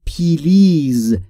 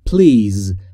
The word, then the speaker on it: please: خیلی از زبانآموزا میگن پلیز این تلفظ اشتباهه. تلفظ درست به این صورته پلیز پلیز بین پی و ال صدایی وجود نداره پس یاد بگیرید که